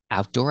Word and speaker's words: outdoor: Outdoor activities. So we see this is the adjective before a noun. So there's no S and the stress is on the first syllable.